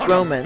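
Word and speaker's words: Romun: it's actually spelled Roman it's actually pronounced Roman and spelled r o m u n and the kingdom is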